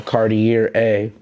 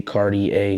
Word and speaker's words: Cartier: just avery overall i actually um was saying cartier a but my man d he he reached out to me he like i think that you should just say cardi a because that's the actual pronunciation of the word